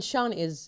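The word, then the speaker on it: Siân: Well, I mean, Sean it's Welsh and it's SIAN and it has a little, like, I don't know what it's called. It's a little diacritical.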